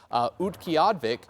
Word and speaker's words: Utqiagvik: And so this town, this is actually pronounced as Utqiagvik, and that is actually located near and just north of the Arctic Circle.